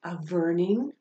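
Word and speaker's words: a mhuirnín: my heart a hri a warning which can also be pronounced a verning and that just means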